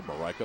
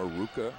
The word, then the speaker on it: Marika: I said, how many different pronunciations? She said, oh, Maruka, Majuka. She says she's heard them all.